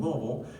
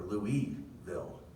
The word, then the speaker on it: Louisville: so king louis so that's why we're louisville and not louisville right because it's spelled lewis but it's king louis and i just say king look because i say louisville right and so then